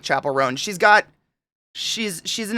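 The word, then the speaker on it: Chappell Roan: Nomine nominee Chappelle chap I always say her name wrong Chapel rone I said Chappelle for a very long time Chapel rone Katie 2 minutes till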